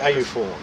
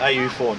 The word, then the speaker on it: AUFORN: And how do you pronounce it? AUFORN. AUFORN. We call it AUFORN, Australian UFO Research Network.